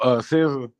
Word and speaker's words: SZA: Oh, SZA.